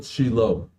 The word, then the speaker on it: Shiloh: so we'll call it which is the proper Hebrew pronunciation and by the way